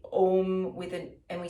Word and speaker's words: Om: so it's a-u-m okay we usually um say ohm with an and we spell it o m because the combination of a